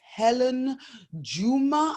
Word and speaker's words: Hellen Juma: Hellen Juma. Am I pronouncing that correctly?